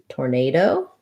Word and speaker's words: tornado: Tornado is stressed on the second syllable nay. It sounds like this. And then the end sounds like do or do. So it just has the clear O vowel, tor.